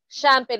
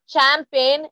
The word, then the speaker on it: champagne: Champagne. It's not champagne. It's champagne. Okay.